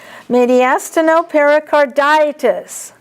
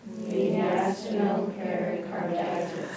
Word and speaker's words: mediastinopericarditis: Mediastinopericarditis. Mediastinopericarditis. I would put a thick line under DI and then a little line under AS. mediastinopericarditis.